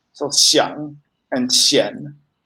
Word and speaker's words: 想: How do you pronounce 想 Xiang.